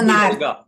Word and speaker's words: Naert: Help me pronounce this properly. Is it Naert? Naert.